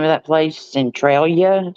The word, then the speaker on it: Centralia: being in what's the name of that place Centralia s that's how you say it Calia yeah